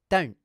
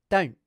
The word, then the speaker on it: don't: As you can hear, I'm doing the vowel sound and the n consonant quickly, then pausing momentarily before proceeding to the t consonant. Note that I'm clipping the n consonant with a glottal stop.